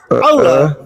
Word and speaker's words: Allah: mengatakan bahwa Allah A L A H eh terus itu bacanya itu Allah ya.